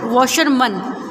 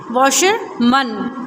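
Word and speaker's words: washerman: आप क्या पढ़ते हैं इसे, वॉशरमन. डोंट एवर से वॉशरमैन. जब हम इसको सिंगल लिखते हैं MAN तो इसका प्रोनाउंसिएशन क्या होता है, प्रोनाउंसिएशन मैन. जब हम इसे सिंगल लिखते हैं, लेकिन इससे पहले अगर हम प्रीफिक्स लगा दें वॉशर, मिल्क, तो ये हो जाता है मन.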